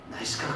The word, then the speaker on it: NYSKC: 나이키스가 아니고 따라서 해봐요. 나이스크. 그래서 나이스크. 그래서 스페링이 어떻게 됩니까? 그랬더니 NYSKC래요. NYSKC를 어떻게 발음을 그렇게 하시나? 내가 그냥 그렇게 만들어서 내가 붙인 거니까 그렇게 따라 하세요.